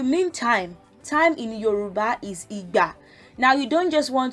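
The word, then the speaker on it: ìgbà: accents in syllables like igba. So e sounds like do. Remember, I showed you the accent. The do comes from the left to the middle, like from the left. So igba, do.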